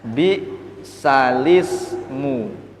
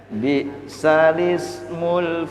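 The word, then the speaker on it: بِئْسَ الِاسْمُ: Bunyi kalimatnya bi salismu. Nah, ini banyak orang salah baca bi sal ismu. Membacanya mestinya bi salismul fusuqu ba'dal iman. Nah, jadi memindah kasroh hamzah ke lam, tidak is tapi lis, lis, lis.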